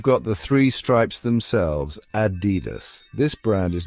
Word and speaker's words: Adidas: The correct pronunciation is Adidas. It's simple once you know the trick. That's R like the beginning of apple, followed by D like the letter D, and then Das rhyming with jazz.